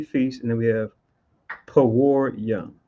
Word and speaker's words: Purim: and then we have poor young which is how you say Purim in the ancient Hebrew right or if I